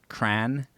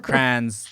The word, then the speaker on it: crayon: the middle in the midwest most people just pronounce it cran and I got all these comments say like crayons like see and they're spelling it c-r-a-a-m-s and